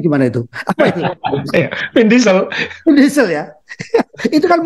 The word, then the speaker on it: Vin Diesel: Vin Diesel, bacanya gimana itu? Apa itu? Vin Diesel.